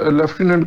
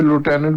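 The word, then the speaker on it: lieutenant: लेफ्टिनेंट वो क्या लुटेनेंट लेफ्टिनेंट को यहां पे लुटेनेंट बोलते हैं प्रोनाउंस किया ठीक है ठीक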